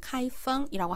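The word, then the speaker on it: 开封: 중국어 발음 카이펑이라고 합니다.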